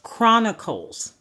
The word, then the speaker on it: Chronicles: Samuel 2 Samuel First Kings Second Kings first Chronicles second Chronicles Chronicles is CR I'm sorry c